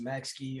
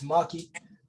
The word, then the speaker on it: Maxkii: um i am uh when you see my name it might look just look like it's pronounced max key or max guy maxipad there's a bunch of different things people would say but it's maki um i've been in